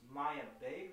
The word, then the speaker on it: Maiah Bae: okay okay and so your name is pronounced maya bay right yeah if you want